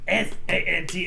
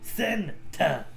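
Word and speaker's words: Senta: S I did yeah it's not s a n ta a It's s e n t a Santa not Santa no wonder we ain't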